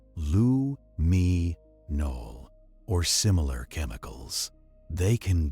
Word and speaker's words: luminol: Some are based on luminol pronounced lu me nol or similar chemicals.